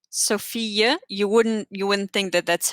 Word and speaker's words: fille: It's always like a y sound almost when you have two L's together. So Fille, you wouldn't think that that's how you spell it.